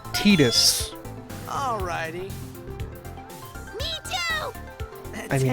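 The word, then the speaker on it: Tidus: Remember, that's pronounced Titus.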